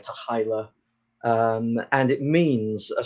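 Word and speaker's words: t'hy'la: the motion picture um with the pronunciation is debated but something like tahila um and it means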